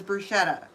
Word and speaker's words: bruschetta: Bruseta. You might hear it pronounced in the US as bruschetta.